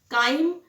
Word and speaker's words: chyme: काइम CHYME, चाइम नहीं pronounce करते, इसे काइम बोलते हैं।